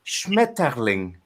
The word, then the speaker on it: Schmetterling: Then you go to the German word, which is Schmetterling. But you also can say like Schmetterling, so as in soften the T and actually just make it a flow.